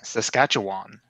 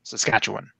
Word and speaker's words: Saskatchewan: But I've been saying Saskatchewan all my life. And it sounds like the "wan" at the end.